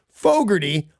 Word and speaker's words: Fogerty: the way I said Fogarty I wanna try that there's an R in it I did not pronounce Fogerty or that's the way